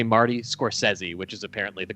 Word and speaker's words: Scorsese: You cannot say Scorsese and get points on Jeopardy. You have to say Marty Scorsese, which is apparently the correct pronunciation.